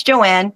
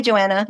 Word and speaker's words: Joanne: You've been Is it Joanne or Joanna? It's Joanne. But it everybody every I say my name's Joanne. They're like, "Oh, hi Joanna."